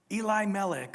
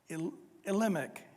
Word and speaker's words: Elimelech: You guys might remember back last week in chapter 1, a guy by the name of Elimelech or Elimelech, depends on how you say it, and his wife Naomi.